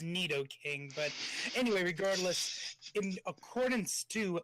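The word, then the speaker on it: Nidoking: fortress and spirit tomb did you just say Knight o king I mean granted pronunciations are kind of bull in Pokemon I'm pretty sure that's neato King but anyway regardless accordance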